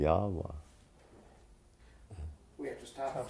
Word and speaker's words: Yahweh: 2 Hebrew characters, and it's what is mispronounced as Jehovah. But my brother said we don't know how they pronounce it, but it would probably be Yahweh.